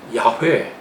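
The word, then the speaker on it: 야훼: 교수님이 2 하나님의 이름 기독교에서 말하는 하나님의 이름을 발음을 이렇게 해라 그래요 역 이렇게 끌어다가 야 이렇게 그야 끄라고 하는 침 야외 혹은 여호와 라고 우리에게 게시된 그 신은 어떤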